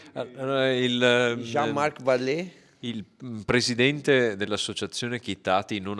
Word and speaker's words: Jean-Marc Vallée: Non so come si pronuncia. Allora, Jean-Marc Vallée.